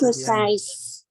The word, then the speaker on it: leukocytes: Sites. S. You have to pronounce the S. Good. So have to pronounce the S. Leukocytes.